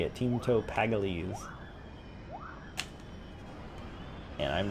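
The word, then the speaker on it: Teemto Pagalies: Teamto Paggalese.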